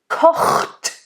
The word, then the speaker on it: kocht: Kocht. So make sure, literally, it's almost like you want to make it a separate syllable.